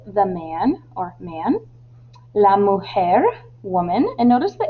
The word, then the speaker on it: mujer: La mujer, woman, and notice the H in hombre is silent and the J in woman is like an H sound.